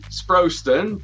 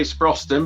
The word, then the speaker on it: Sproston: I tell you what, there's a lot that say Sproston, but we say Sproston, but it doesn't matter. Sproston, Sproston, Ministry of Barbers, Sean Swiss Sweeney.